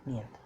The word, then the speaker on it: нет: It is pronounced like niyat.